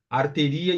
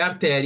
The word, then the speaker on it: artéria: Como é o padrão por exemplo arteria e malaria não não o certo é artéria e malária pessoal Vejam